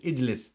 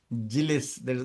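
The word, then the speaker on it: اجلس: So that's why you're adding a alif over here, hamzatul wasl, ijlis. You cannot say jilis.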